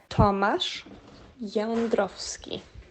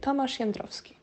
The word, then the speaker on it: Tomasz Jędrowski: Tomasz Jędrowski. I'm over enunciating. Normally you would say Tomasz Jędrowski.